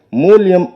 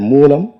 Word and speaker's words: மூலம்: அவர் பேசும்போது மூலயம் என்று மூலத்தை அவர் உச்சரித்தார். அப்படி உச்சரிக்கலாகாது தம்பி மூலியம் என்றால் நிமித்தம் என்று பொருள். இனி வரும் மேடைகளில் நீங்கள் மூலம் என்கிற சொல்லை சரியாக உச்சரிக்க வேண்டும் என்பதை ஒரு வேண்டுகோளாக நான் இந்த மேடையில் சொல்கிறேன்.